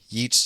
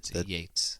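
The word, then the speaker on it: Yeats: Wellspring of Irish literature from Yeet to Joyce Yates Yates the Tain is the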